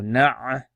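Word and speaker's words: نعبد: Na'budu, na'budu. So let's join these letters together. So this is joined as follows, as you can see. So na'budu.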